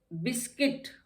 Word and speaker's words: biscuit: यू is silent in बिस्किट। हमने जब बिस्किट पढ़ा, BISCUIT। अब आपने देखा इसके बाद वॉवल आया है यू के बाद, तो यहाँ पे यू साइलेंट हो गया है, दो इकट्ठे आ गए ना UI, तो ये बिस्किट हो गया, बिस्किट।